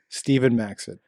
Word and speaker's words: Steven Maxted: who is Stephen Maxted? Yeah, it's a. Are we pronouncing it properly? Yeah, you nailed it.